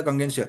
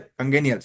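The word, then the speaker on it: congenial: जो अपने टिक लगाया था कंगेंशियल, कंगेनियल, वेरी सॉरी, ये वर्ड का हम प्रोनाउंसिएशन बता रहे हैं। कंगेनियल बोलेंगे हम इसे।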